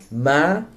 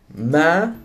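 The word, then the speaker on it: má: Tone number three is a mid-rising tone. So ma, ma, which means mother, ma.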